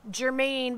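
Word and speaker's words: Germann: There's another one called Germain, but it's spelled as German.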